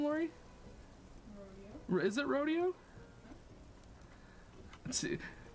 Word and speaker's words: Rodeo: How do you pronounce his name, Lori? Rodeo. Is it Rodeo? Let's see. Like Rodeo.